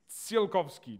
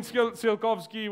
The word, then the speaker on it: Tsiolkovsky: This guy at the top is Konstantin Tsiolkovsky. Did I get that right? Yeah? Close. Okay, close is good enough. That's our motto in rocket science. So Konstantin Tsiolkovsky was the Russian father of rocketry.